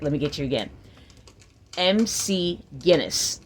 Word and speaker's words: McGinness: let me get let me get you again Mc Guinness like the world book and like the Brew